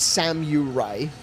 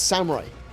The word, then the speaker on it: samurai: It's absolutely uh I probably one of the most common Japanese mispronunciations is samurai because people spell the people pronounce the u. It's not samurai, it's samurai.